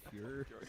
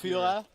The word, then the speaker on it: Führer: You call him Fuhrer. It's pronounced Führer.